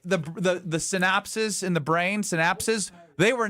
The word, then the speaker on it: synapse: It's like synapses. Maybe synaptis is Synapse.